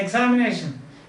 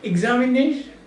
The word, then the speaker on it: examination: english words understand that suppose you say examination yes you can understand but if you say examination when do we have our examination don't you think it's much better it isn't when do